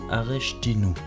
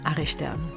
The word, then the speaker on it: Aresteanu: chouette atelier avec archtinou je l'ai bien prononcé non désolé bonjour bonjour Alors comment prononce ton nom de famille mon nom de famille se prononce archtern ok voilà alors dis